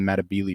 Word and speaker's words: Matabele: and that is the Matabele tribes, or the Netabele, depending on your pronunciation. I think that the technical, like the native African pronunciation is Netabele, but the kind of anglicized version is Matabele.